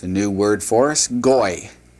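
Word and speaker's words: גוי: Goy. That's how you would pronounce that. Goy.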